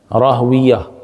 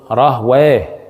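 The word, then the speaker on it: Rahwayh: This is written like Rahwiyah. Ra, alif, ha, waw, ya, and rounded ta at the end. Rahwiyah. But in the pronunciation, it is called Rahway.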